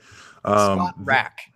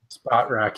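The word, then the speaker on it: Spotrac: Spot Track. Spot rack. Yeah. There you go. Spot Rack. Fantastic. Thank you for that. I'm just kidding. I had no idea. I'm almost positive it is Spot Rack.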